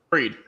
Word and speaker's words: Fried: Fried. Yeah, Fried.